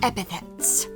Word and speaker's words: epithets: dispense with the childish epithets. Epithets? Epithets? Epithets. I know how to say this word. Epithets? Epithets. I said it right.